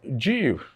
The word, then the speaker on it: ewe: The first one is pronounced as Jew, Jew, Jew. It is the female part of a sheep.